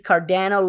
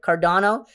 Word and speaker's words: Cardano: joking in the chat about the pronunciation it is cardano not cardano so i'm trying to